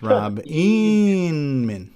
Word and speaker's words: Inman: I would just like to request humbly, whenever you mention Rob Inman's name, you put the proper emphasis on the syllable and refer to him as Rob Inman.